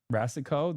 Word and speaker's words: Rasicot: Rasicot, the T is silent.